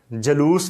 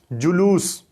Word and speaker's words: جلوس: وصال نہیں وصال۔ پھر جلوس کیا دیتے ہیں، جلوس نہیں بلکہ درست تلفظ ہوگا جلوس۔ قیام غلط، قیام، قیام